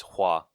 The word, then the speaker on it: Hua: in imperial china home how the hell do you pronounce that hua mulan is it hua yeah it's hua it's hua okay hua mulan is